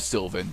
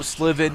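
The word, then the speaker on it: Slivan: and then we have sylvan yes i know souls i know i know sliven is how it's pronounced i don't care it's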